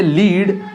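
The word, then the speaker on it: lead: लीड, हम यहां पढ़ेंगे लीड और यहां पर पढ़ेंगे लेड। लेड बोले तो एक तरह की मेटल होती है, ये आपको पता है, एक धातु होती है। तो एक तरह हम इसका प्रोनाउंसिएशन करेंगे लेड। लेड means a metal.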